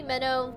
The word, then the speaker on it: Minnow: people I'm like oh you can call me minnow pronounce kind of like the fish and then you'd be